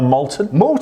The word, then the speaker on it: Malton: Matt is the distiller here, and what a wonder, if you're ever in North Yorkshire, Malton, is it pronounced Malton? No, Malton.